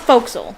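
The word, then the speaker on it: forecastle: to pronounce pronounce uh faux castle foxyl it's pronounced foxyl but it it's spelled uh faux castle or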